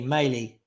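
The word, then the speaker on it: Mæhle: Male is pronounced like male, just with an E. Maley.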